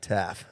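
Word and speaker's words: Taaffe: Blake Taffy. It's Taff. Taff. Yeah, that'll do.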